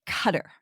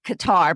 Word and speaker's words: Qatar: cutter uh representatives and we asked them now how do you pronounce it for sure because um we know as you as us people we always have said Qatar but just so if you hear cutter just so you know cutter and qar are the